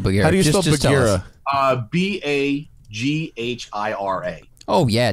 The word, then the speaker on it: Bagheera: is called MZ and the name is called Bagheera so like think Bagheera from The Jungle Book that did that didn't